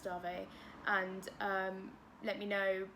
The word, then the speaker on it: Dave: dave it's about dave it's pronounced darvey and um let me